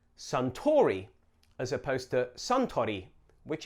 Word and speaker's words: Suntory: Suntory. Notice the difference in the vowel sounds, sun versus san.